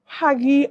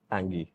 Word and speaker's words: hangi: Haggi and Beyond. Hangi. Is it Hangi? Hangi. Hangi and Beyond.